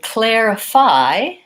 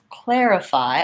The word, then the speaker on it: clarify: clarity things that we they both have the air diphthong so I would start when I was pronouncing them with err and then add in the KL sound err Claire in clarify Claire clarify I still have four syllable